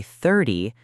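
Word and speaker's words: thirty: But when you say 30, the stress is on the first part, 30.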